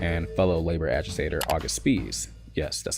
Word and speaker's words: Spies: And before long, he meet German immigrant and fellow labor agitator August Spies. Yes, that's how it's pronounced.